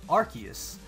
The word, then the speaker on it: RKS: who don't know uh the proper pronunciation of Rus is archus so R KS system archus system so I think that's